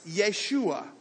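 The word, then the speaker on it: ישוע: tells his purpose watch this in Hebrew Jesus pronounced Yeshua all right yay means God and schewe means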